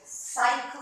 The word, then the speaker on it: cycle: Now you see, you would go, cut, but it's not. It's the soft C. So that now on city and cycle makes a sound, not a cut.